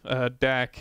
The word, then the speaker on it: DAC: DAC is usually how it's pronounced, and that stands for digital to analog conversion.